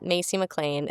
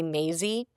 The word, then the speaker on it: Masey McLain: where I'm at so it's Macy Mlan it's spelled pretty differently m- a s y m l a i n a lot of people call me Maisie and Massie I will I will not respond to Massie I I will respond to Maisy.